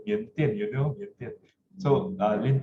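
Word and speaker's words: 缅甸: know Chinese, they say Miandian, you know, Miandian. So Lin Toi, Miandian is the Chinese pronunciation for Myanmar, right?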